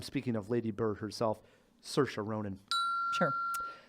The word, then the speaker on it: Saoirse Ronan: her a lot it's it's not pronounced how it's spelled right and once you get to hear it enough it's pretty easy Saoirse Ronan but the movies we